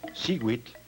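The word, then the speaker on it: xihuitl: Cada cuadrete contiene el color turquesa que se pronuncia. En este caso, Shewit quiere decir año.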